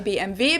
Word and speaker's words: BMW: English and in German in English people say BMW in German we say BMV because W is pronounced V in German and it stands for